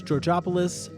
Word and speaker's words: Georgopoulos: Our theme song was created by Alexis Georgopoulos, rhymes with Metropolis.